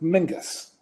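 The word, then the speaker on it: Menzies: is not pronounced like menes it's an old Scottish name that is actually pronounced Mingus so it's shortened down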